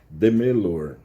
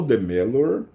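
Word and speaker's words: Demeure: é eu acho que a pronúncia em francês é de melor Então vamos o doutor de melor ele ele foi morto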